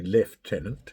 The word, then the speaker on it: lieutenant: a sub-lieutenant, and then when I say lieutenant, it's actually lieutenant.